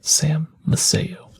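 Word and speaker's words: Sam Maceo: disaster was organized by Sam maseo that's how you say it the same as Sam one of the two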